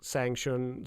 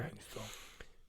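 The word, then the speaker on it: Shang Tsung: oh, you And mean then that turns into being Sang Shun. Yeah. Shun. God, I can't- Sang Shun? Sun. Chang Chang Sun. Chang Sun. That's how you say it. God damn it. Chang Sun.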